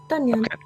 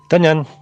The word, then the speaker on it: Danyan: Is that how we're pronouncing it? Danyan? Done, Yan. Danyan.